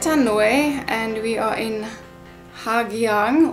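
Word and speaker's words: Hà Giang: left Hanoi and we are in Ha Giang, or pronounced Ha Giang at the moment.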